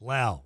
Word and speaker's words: Lau: It's Lau. Rhymes with Hal.